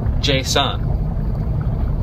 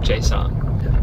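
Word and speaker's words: J-Son: Tonight, we're having a concert during our youth group from a Christian rap artist, J-Sun. I believe I'm pronouncing that correctly. J-S-O-N. J-Sun.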